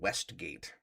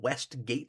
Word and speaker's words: Westgate: in this neighborhood called Westgate. One word, Westgate. And the the map program will always say turn left on Westgate Street. It's like it's not West Gate Street, it's Westgate Street.